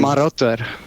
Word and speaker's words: Marotter: It sounded like you said Marauder. That's the idea of the name. Marotter.